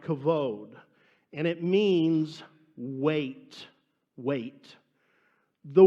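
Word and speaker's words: כָּבוֹד: The Hebrew word for glory is, I think you pronounce it, something like kavod.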